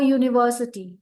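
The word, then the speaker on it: university: Okay, देखो इसीलिए भी से अ यूनिवर्सिटी, यूनिवर्सिटी, यू का साउंड नहीं आ रहा है.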